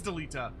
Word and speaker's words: Delita: but without whom Deita Now, Delita does seem that seem more accurate. That I feel like that's how the Japanese would want to pronounce the name. Oh, it is Delita.